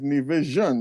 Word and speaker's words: Nevisian: I always thought Nevisian, but it seems like it's Nevisian. This is what you're saying. Yeah, that's what. That's how it's usually pronounced.